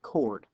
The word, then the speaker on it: chord: guys see is a chord it's not CH it's actually pronounced a chord uh but the key